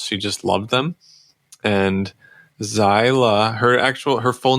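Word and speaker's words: Xyla: about to be six her name is zyla you spell it X Y L A where'd that come from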